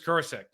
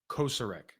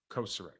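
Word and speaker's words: Kocurek: best in the business Chris kek or I say his name wrong every time koser it's koser he is I I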